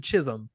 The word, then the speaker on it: Chisum: to preface that but his name is David Chisum which just sounds like your last name is Jism and that can't be great for that guy.